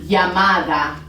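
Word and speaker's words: llamada: a call it's una yamada so it's double l makes the yup sound so if you ever see double l yup makes a y sound okay now we're going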